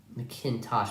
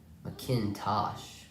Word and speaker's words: McIntosh: sense I wrote it looks like I wrote an N instead of an H McIntosh I've been saying it all wrong that's why I couldn't pronounce the name I thought it was an odd name Akin tin or whatever it was what I was trying to say Macintosh now four minutes to